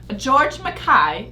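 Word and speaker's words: George MacKay: the Stars our two leading men we have George Makai that's how you pronounce it I thought that George Makai as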